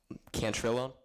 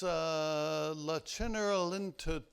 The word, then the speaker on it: La Cenerentola: Cantrillon? Say it again for me. Cantrillon? No. No? Reese. Carmen. No, it's La Cenerentola.